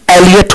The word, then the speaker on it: Eliot: तो देखिए आप लोग ये जो आपका एस्स है ये टी एस इलियट ने लिखा है जिसको हम एक्चुअली इसका प्रोनाउंसिएशन एलियट होता है टी एस एलियट तो जो टी एस